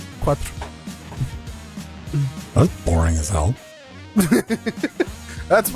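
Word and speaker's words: quatro: TR how do you say for in Portuguese quatra quatra yeah so it's like Quattro but with an a yeah yeah it's quattra but with only one t Quattro yeah all right quatra that's boring as hell that's where the word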